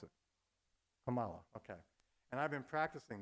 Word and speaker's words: Kamala: Oh, well, how do you pronounce it? Kamala, okay.